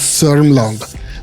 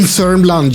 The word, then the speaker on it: Södermanland: It's spelled Södermanland, South Man Land, but you pronounce it as Sörmland. Don't believe anything when it comes to Swedish spelling and pronunciation. In Sörmland, you find a lot